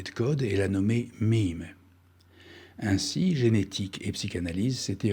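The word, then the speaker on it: meme: a volontairement voulu en jouant sur le mot mi mi qu'il prononce MIM en anglais et qu'il écrit moi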